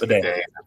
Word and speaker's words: Badie: Is it bidet? Is it Badie? Yes. Bidet? I hate that it's bidet. It's spelled not like bidet.